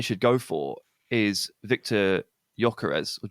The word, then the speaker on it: Gyökeres: The one that I think that they should go for is Victor Gyökeres, or Gyökeres. How do you say his name, Jack? Gyökeres, Coventry.